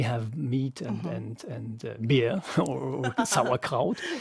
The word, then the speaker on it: sauerkraut: Yes, yes, and sauerkraut, is that how you pronounce it?